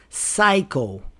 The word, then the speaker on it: psycho: The P is silent in PS or PN words. This is especially true when the words are related to science, scientific words. Psycho.